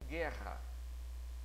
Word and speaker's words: guerra: Eu pronuncio guerra. É como se fosse o R grande, né? E o GU está fazendo só o som de G. Então está dando guerra.